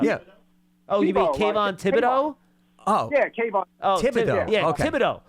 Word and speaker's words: Thibodeau: Oh, you mean Kayvon Thibodeau? Oh. Yeah, Kayvon. Oh, Thibodeau. Yeah, okay. Thibodeau. Yeah. So we can practice. It's just like the Knicks head coach, Thibodeau. Thibodeau.